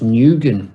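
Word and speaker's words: Nguyen: khan hong kong noob i believe that's pronounced nugent that's that's a very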